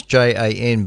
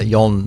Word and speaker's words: Jan: J it's like his his name's J an but it's yon yon something or rather yon not Jan or anything but it's